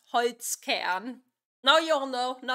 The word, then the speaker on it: Holzkern: Today's sponsor is Holzgern. Holzgern is a young Austrian company that designs unique crafted watches. Sorry, I just have to interrupt. As a German, it's pronounced Holzkern.